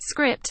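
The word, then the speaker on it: scrypt: using a different algorithm called script pronounced script which is much more RAM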